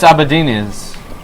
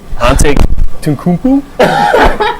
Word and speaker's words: Antetokounmpo: Giannis Abadinas. Giannis camera 2. Giannis Antetokounmpo.